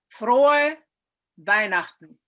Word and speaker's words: Frohe Weihnachten: Frohe Weihnachten. Frohe Weihnachten. Frohe Weihnachten. Fröhliche Weihnachten. Frohe Weihnachten. Frohe Weihnachten. Frohe Weihnachten. Okay, so everybody, can we say it one more time? We say? Frohe Frohe Weihnachten.